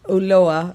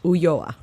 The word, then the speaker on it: Ulloa: Well, no, it depends how you're pronouncing it. But in English, Ulloa. In Spanish, Ulloa.